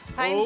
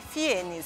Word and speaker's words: Fiennes: Fines é a pronúncia certa. E do jeito que o pessoal costuma te chamar? O jeito que o pessoal fala é Fienes.